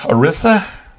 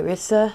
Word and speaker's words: Irissa: Oh, Arissa? Arissa. Arissa? Arissa. Okay, which is a Latin name or a Greek Actually, divination. It's a long I. Irissa. Irissa, Because it means iris.